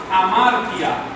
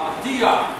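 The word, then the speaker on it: ἁμαρτία: cometo una cosa que se llama amaria Amara o amaría pronúncialo como quiera dice amaria cierto que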